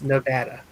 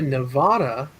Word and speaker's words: Nevada: So the state, anyone who lives in Las Vegas, they say it's Nevada. Yeah. But like the Sierra Nevada with the longer A sound at the end, Nevada, it's pronounced differently.